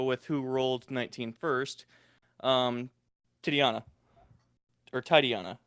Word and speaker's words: Titania: Titiana. Or Titiana. How do you pronounce it? Pretty sure it's Titania.